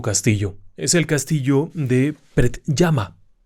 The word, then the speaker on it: Predjama: hacia el este, en un lugar conocido como Predjama. Predjama. Tiene una pronunciación peculiar.